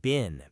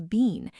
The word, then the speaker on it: been: In the United States and most of Canada, been is almost always pronounced like bin, B-I-N.